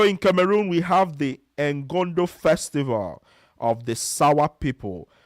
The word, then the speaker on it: Ngondo: Yes, so in Cameroon we have the Ngondo festival of the Sawa people. So, the Ngondo festival, that's the n g o n d o.